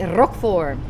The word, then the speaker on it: Roquefort: It looks like Roquefort, but you say Roquefort. Can you roll your R's?